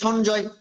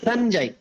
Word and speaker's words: সঞ্জয়: সেটা হবে নিয় যোগ বর্গীয় জ, মানে উল্টা। এটা নিয়োজক বর্গের জ, তাহলে সঞ্জয়, সঞ্জয় বাংলাতে। তাহলে আমি যে বলছি সংস্কৃত উচ্চারণ দুঃখ থেকে একটা উচ্চারণ করতে হবে, সঞ্জয়, সঞ্জয়, সঞ্জয়। তাহলে বর্গের জকে আমরা জড় পদ উচ্চারণ করবো।